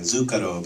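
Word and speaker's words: Zuccaro: they discovered this artist it sounds like the word sugar in Italian zukaro but there was an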